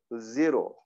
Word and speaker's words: zero: 근데 아까 발음 들으신 거에 의하면은 zero.